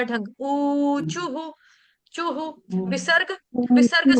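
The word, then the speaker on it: ऊचुः: है चू विसर्ग छोड़ने विसर्ग से पहले हमारा शब्द है छू इसीलिए क्या हो जाएगा वहां पे विसर्ग का उच्चारण हम करेंगे हु ख और छोटा उ गोप्य उचुहु कैमरा ऑन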